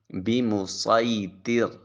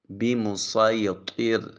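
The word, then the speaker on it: بمصيطر: لفظ ہے المسیطرون۔ المسیطرون۔ چوتھا لفظ ہے بمسیطر۔ بمسیطر۔ یہ 4 الفاظ ہیں جہاں صاد لکھا ہوتا ہے اور ان کے اوپر سین بھی لکھا ہے، تو صاد کی بجائے ہم سین تلاوت کریں گے۔ آئیے چلتے ہیں آج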